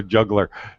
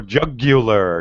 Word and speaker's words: jugular: Go for the juggler. No, jugular. You have to pronounce it with three syllables, right?